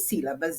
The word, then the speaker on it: sílaba: proparoxítona é acentuada então olha aqui sílaba a mais forte a antepenúltima olha ela aqui com acento olha a palavra tônica